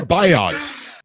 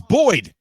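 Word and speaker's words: Boid: I mean, it literally took Cobra 3 tries to get I thought it was Martin Biod. I thought it was Martin Biod. Biod. B-O-I-D. Yeah, Biod. Oh, it's Boyd.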